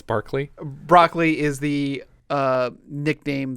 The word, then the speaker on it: Barclay: barkley barkley broccoli broccoli it's spelled b-a-r-c-l-a-y it's barkley broccoli is the uh